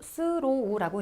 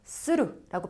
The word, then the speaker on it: through: 스로우라고 있는 거 아니에요? 스루라고 빨리 읽으시면 돼요.